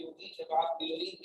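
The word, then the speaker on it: chlorine: जब आप क्लोरीन की स्पेलिंग लिखते हैं H लिखते ही नहीं क्योंकि वो साइलेंट है।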